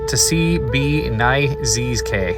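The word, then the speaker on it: Tsé Biiʼ Ndzisgaii: In the native Navajo language, is pronounced Tsi-B-Ni-Zs-K.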